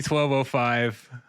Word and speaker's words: 1205: I typically say 1205.